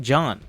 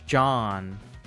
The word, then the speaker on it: Jean: It's pronounced like Sean, but with a J sound. No, but they say it John.